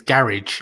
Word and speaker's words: garage: That means you'd have, if you went to Scotland, you'd have to be called Cammie's Garage instead of Cammie's Garage. Well, I kind of say it with one syllable, garage.